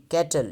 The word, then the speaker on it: cattle: इसी तरह कैटल, ये लिखा होगा पीछे, देखें स्पेलिंग है CATTLE, कैटल, जैसे माल मवेशी होते हैं, डोर डंगर होते हैं, कैटल। तो उसूली तौर पे इसको ऐसे लिखना चाहिए कैटल, 2 सिलेबल है, लेकिन अब इसमें से